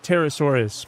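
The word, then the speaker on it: Pterosaurus: Uh, Terasaurus because their P is silent.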